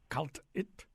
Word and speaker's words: kalt'it: So I don't finish that vowel sound at the end. It's kind of it's a vowel we have in English, but what we don't have in English is that vowel at the end of a word.